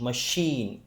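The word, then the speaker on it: machine: जैसे मशीन में जो सीएच का साउंड आया है वो श मशीन श ये साउंड आया।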